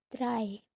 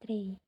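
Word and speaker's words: drei: Contoh d e itu angka 3 dry bukan day.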